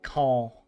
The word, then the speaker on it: Caen: I lived in Caen or c a e n like Khan, but they pronounce it like call.